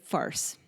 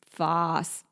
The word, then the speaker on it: farce: in Australian pronunciation so we started with farce that was the Canadian version the Australian version is is Foss yeah I just cannot